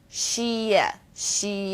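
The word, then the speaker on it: 谢谢: kind of like the word she and E she she yeah not too hard right now if you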